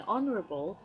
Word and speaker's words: honourable: say an honor-roll fellow in honourable starts with an O sound so he starts with a vowel sound therefore I use n